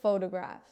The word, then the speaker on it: photograph: The word photograph. Say it with me, photograph. The stress is on the first part, photograph, not photograph, not photograph, photograph.